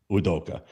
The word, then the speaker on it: Udoka: Udoka. Anyway, he's the head coach for the Houston Rockets. Oh, it's Udoka.